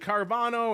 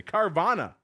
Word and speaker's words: Carvana: Wednesday, we got Uber and the D and Carvano and Door Dash. Carvano, easy for me to say. Carvana and Door Dash listeners.